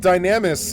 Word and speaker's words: Dynamis: Because it's just the word dynamic but with an s instead of a c.